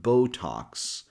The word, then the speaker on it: Botox: And imagine X here is actually a combination of the letter K and the letter S. So the second syllable is talks. So the full word sounds like Botox.